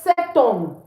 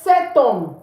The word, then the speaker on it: cet homme: It's not safe to say so Rather, we say cet homme. Why? Because H is considered a silent letter, okay, a vowel. So we say cet homme. We say cet homme. We don't say so Please take note of that.